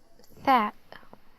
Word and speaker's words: ث: It's called letter Thaa, so it's pronounced like the th, the Thaa. Okay, so Thaa, Thaa. The th in English in some words like 3, think, and so on. Okay, how to pronounce it? It's like the English th, okay?